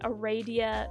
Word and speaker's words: Aradia: am going to and I know there's no I there I know it's like Aradia or whatever but like but like pronounce the a uh long I guess a radio I'll be pronouncing it